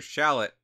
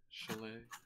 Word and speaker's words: chalet: And next up, we have the Winter Shallot. Isn't it chalet? Chalet. Okay. A shallot is a vegetable.